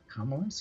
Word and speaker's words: Kamala: Kamala, she's from Oakland.